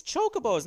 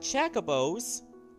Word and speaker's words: Chocobos: bows in the finals your pronunciations are wrong it's chocobos not Chaca bows get checker bows gee